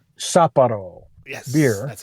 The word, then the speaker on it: Sapporo: It's the Sapporo, is how you pronounce that, right? Yes. Sapporo? Sapporo.